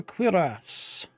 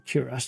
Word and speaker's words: cuirass: Supportive Scholar Cuirass. Or Cuirass, depending on how you want to pronounce it.